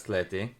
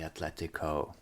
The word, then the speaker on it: Athletic: as It's Athletic. the name, Athletic, as they pronounce it here, but it's athletic, spelled athletic because it was founded by British and Yeah.